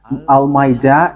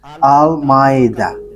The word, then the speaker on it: Almeida: So, the way you write it, Almeida, is as it is pronounced, Almeida.